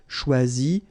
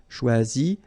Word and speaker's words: choisi: Okay, same rule, you don't pronounce them. So phonetically, you will have choisi, choisi, choisi, choisi, choisi, choisi, choisi, and choisi.